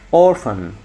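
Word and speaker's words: orphan: تمام في بعد كده اورفن ناخد بالنا ال ديت اورفن حرف بي وش نطق ف اورفن اورفن تريجر تريجر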